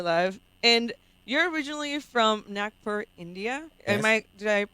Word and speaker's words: Nagpur: And you're originally from Nagpur, India. Yes, Did I pronounce it that's correct.